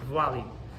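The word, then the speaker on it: Valle: That's how you pronounce that name, by the way, Vuali.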